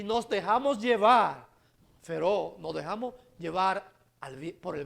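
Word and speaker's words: φέρω: La palabra inspirado que usó el apóstol Pedro aquí es una palabra griega que se pronuncia feró, que significa gobernado por, llevado por, o impulsado por, o controlado por.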